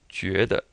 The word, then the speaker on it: 觉得: So this 句, this U here kind of is that French U where it's pronounced up in the lips. Ju, and it's this JU is like the Jew in Jupiter. Jupiter. And then you have an E as in be, bet.